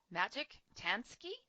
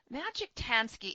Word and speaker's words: Maciej Tański: I have with me our guest, Maciej Tański, and it is spelled M-A-C-I-E-J, Tański, T-A-N-S-K-I.